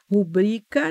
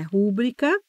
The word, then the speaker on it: rubrica: é campeã de aquos é rubrica não é rubrica seniores então Juniores e